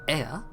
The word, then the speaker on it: Ea: When the vibration of vocal folds are still required to convey our thoughts and intentions, Ea, I believe, was the pronunciation used when referring to our people.